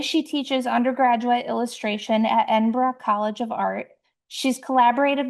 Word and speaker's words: Edinburgh: She graduated from, oh, Lucy, I even looked up the pronunciation, Edinburgh.